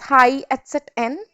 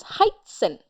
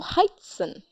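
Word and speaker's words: heißen: that doesn't mean that we are going to pronounce it as high etet n no that would be incorrect the pronunciation will come as heighten wherever etet comes we emphasize there and we pronounce like double Esa sound so heighten now you must be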